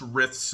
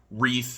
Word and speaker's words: Riff: Yeah, I mispronounced Riff's name at the beginning. It's not Wreath, it's Riff.